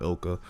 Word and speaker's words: ILCA: I think it's pronounced Ilka, but this is where